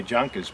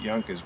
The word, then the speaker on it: Junkers: junkers which is it's if you've seen it written you would say junkers but it's I think in English we pronounce it Yonkers which is they made